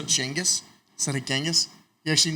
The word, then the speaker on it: Genghis: Did you say Genghis instead of Genghis? He actually knows the correct pronunciation of Genghis Khan.